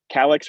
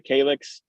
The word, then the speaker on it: calyx: show is the um the calyx or the calyx you can pronounce that both ways that is um if